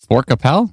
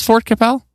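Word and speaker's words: Fort Qu'Appelle: hear it I'm like obviously forcapel. No, that's not how you pronounce it. There's got to be a better way to pronounce. I swear there's Let's see. No, that's not right. No, that's not Is that It is Fort Capel.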